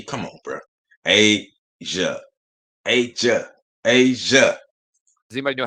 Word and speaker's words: A'ja: can't say it hey y'all can't pronounce a apostrophe j.a asia and then listen to how they react when they find out it's pronounced asia yeah i made it